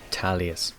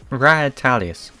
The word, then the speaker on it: Rahetalius: wrong i was saying italias it's ra the h is silent apparently so it's rather than